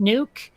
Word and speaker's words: Nuuk: seems that the capital of Greenland is called Nuuk. It's like NWK. Like Yeah, that's actually correct. NUUK. What? That's It's correct. pronounced Nuke?